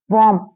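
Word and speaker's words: warm: बोलते है ना तो वम डब्लू ए आर एम वम वम यानी गर्म देखिए यहां पर आर का प्रोनंसिएशन नहीं होता है ठीक है मम इसे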